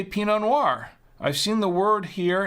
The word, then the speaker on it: Pinot Noir: it peanut nor uh no it's it's Pinot Noir Noir like think of uh if uh if you're into films you know you know film noir you know like the old black and white films the 30s and 40s uh film Noir it's Noir n-o-i-r Noir except it's peanut Pinot Noir um pretty pretty simple